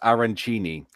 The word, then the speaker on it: arancini: A functional says it's pronounced arancini.